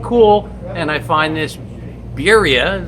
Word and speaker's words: Biria: and I find this birria is that my saying it right yes you are electric folding bike 1,400